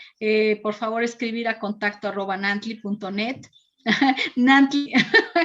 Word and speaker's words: Nantli: Nantli, como me dicen, no Nagni, puedo pronunciarlo.